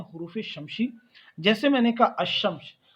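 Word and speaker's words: الشمس: की कोशिश की है, तो अशम्स जो लफ्ज है इसके शुरू में जो लाम इस्तेमाल किया गया है अलिफ, इसे आप पढ़ते नहीं हैं, इसको प्रोनाउंस नहीं करते, इसका तलफ़ुज़ नहीं करते, सीधे आप शीन की साउंड आपको उसकी आवाज़ सुनाई देगी।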